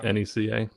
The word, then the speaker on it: NECA: Am I pronouncing that right? Yeah. NECA.